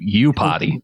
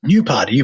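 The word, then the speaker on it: Iupati: name correct is the you don't pronounce the I you you potty you potty by thank thank you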